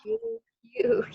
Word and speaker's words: huge: Padahal tulisannya begini. Oh, Huge. Ini DJ yang di atas tadi. Saya harus ngopi Iya. ke atas lagi. Nanti scrolling keburu lupa. Tapi ini bacanya adalah huge.